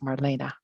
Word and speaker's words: Marlene: And although it's, um, E ne, it is pronounced Marina.